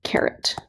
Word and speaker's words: caret: this is called the caret pronounced just like an orange carrot so you would press